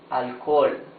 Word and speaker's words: alcohol: In the middle of a word, alcohol. Alcohol. You see, in both cases, the letter H is completely mute. Hoy, today. Alcohol. Alcohol. Alcohol, yes? It's totally mute.